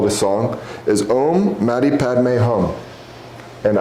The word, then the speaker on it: Om Mani Padme Hum: And this song specifically, I call it a song, is Om Mani Padme Hum. And I know I'm pronouncing that very American.